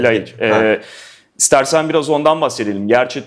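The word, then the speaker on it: Ljajić: geçen oyunculardan biri de Adem Yayiç ve Laiç diye okunuyor sanırım gerçi. O senin de çok iyi tanıdığın bir isim. Yayiç galiba değil mi? Laiç.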